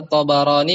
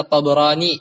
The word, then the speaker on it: Tabarani: Sebagaimana diriwayatkan oleh Imam At-Tabarani, bacanya bisa Tabarani, bisa Tabrani ya.